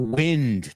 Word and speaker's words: wind: Now, the second word is spelled exactly the same. So, for all intents and purposes, it's said exactly the same, right? No, it isn't.